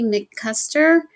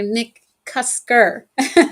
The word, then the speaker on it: McCusker: My guest today is Holly McKuster. Oh, I mispronounced that, Holly. I'm so sorry. Nick Kusker, founder of Love Prescriptions, the relationship institute.